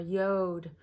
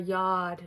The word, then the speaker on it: yod: what's called a finger of God or a yod or a yard depending on how you pronounce it right and that configuration is really